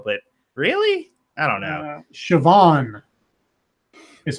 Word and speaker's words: Siobhan: Siobhan is how you say it. Siobhan.